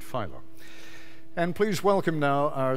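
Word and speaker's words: Filo: April 1994 with David does he pronounce it Pho or pH Pho with David Pho and please welcome now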